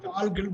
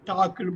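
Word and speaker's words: talk: easy இதுல எந்த இதுல எந்த லெட்டர் உச்சரிக்க கூடாது எல் எல் எல் டால்க்குன்னு படிக்காம டாக்குன்னு படிக்கணும் இங்க எல் எல் தான்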